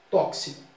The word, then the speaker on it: tóxico: Então, essa palavra tóxico, na variedade popular, muita gente às vezes fala tóxico. É uma variedade popular. Mas em situação formal, o X aqui tem um som de KS, tóxico.